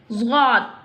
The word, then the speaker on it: ض: Zghat. How will pronounce zghat? Listen to me. Zghat pronounced from the sides of the tongue touching the roots of the upper molars.